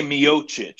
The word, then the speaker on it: Miocic: today is UFC news after the DC savvy pronounces guys named Ryan steep a miosha's steep a Miocic he's Croatian yeah it's a very common Croatian